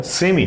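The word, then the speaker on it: semi: नाम क्या हो गया, सेमी, सॉरी ठीक है, सेमी। और अमेरिकन में इसको सेमाई भी बोलते हैं। अमेरिकन में लास्ट पे जब आई आ जाता है तो उसको आई प्रोनाउंस करते हैं, सेमाई ट्रांसपेरेंट।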